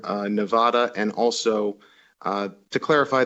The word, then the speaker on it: Nevada: of the state and often correct people uh Nevada over Nevada and also uh to